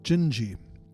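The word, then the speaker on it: Dindi: So, but this is a song by Antonio Carlos Joim called Gingi. It's Portuguese name of a of a girl. D I N D I. And in Portuguese you pron pronounce that gingi.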